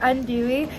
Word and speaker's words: andouille: Yes, I said it right, andouille.